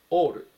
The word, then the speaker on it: all: ですねオールオール発音に注意してくださいあで始まらないでおっていう風に最初読み始めます all 意味は全ての